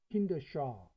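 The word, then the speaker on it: Kinderschar: Kindersar, 자, 발음을 조금 볼까요? 자, 우리가 이렇게 보면은 발음을 이렇게 하면 이제 이렇게 안 나올 때는 샤르네요. 부대 샤르로 발음해야 됩니다. 샤, 그죠? 샤, 킨더 샤, 킨더 샤 이렇게 발음해야 돼요.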